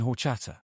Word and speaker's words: horchata: Piper said rolled tacos and horchata.